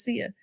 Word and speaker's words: Sia: And they be like, it ain't Cisa, it's Sia.